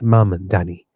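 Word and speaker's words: Mamdani: Yes, Mandani.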